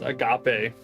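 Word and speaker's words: ἀγάπη: then on this one it has a regular apostrophe which just means that it's an a sound and not a h sound at the beginning of the word so this is uh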